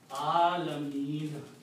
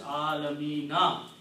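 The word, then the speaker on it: العالمين: Whatever is the harkat on that last letter, here is a fatha, do not pronounce that. Okay, so you pronounce alameen. Just like there was no harkat. But if you continue pronouncing, you will have to pronounce alamina.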